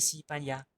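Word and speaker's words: 西班牙: España se dice Sipanya, Sipanya.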